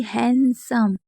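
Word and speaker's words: handsome: अब देखिए हैंडसम तो हैंडसम में क्या है? डी साइलेंट है।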